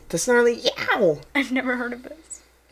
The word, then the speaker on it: Yow: It's Y-O-W. The Snarly Yow. Yow. Yeah. Yow! Like when you get, like when like you step on a hot coal, you're like, yow! The Snarly Yow.